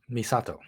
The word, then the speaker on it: Misato: because um uh Mis Moki is that correct misato misato misato like one the first things she